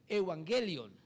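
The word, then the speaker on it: εὐαγγέλιον: Eh, ¿cómo se pronunciaría en el puro griego? Es evangelion. Evangelion. y castellanizada queda evangelio.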